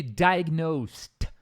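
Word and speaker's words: diagnosed: câncer tá destaque aqui pronúncia de diagnost termina com t drive nost também me lembro no inglês britânico eles pode terminar com D pode né mas aqui no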